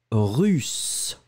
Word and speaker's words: russe: Le a avec les deux s, et donc le s très fort, c'est russe.